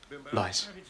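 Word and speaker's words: Leiss: L-E-I-S-S. Lice. Rhymes with spice, but twice as nice.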